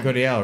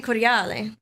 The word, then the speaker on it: Cordiale: If you were gonna actually say it, it's Cafe Cordiale. Actually, right?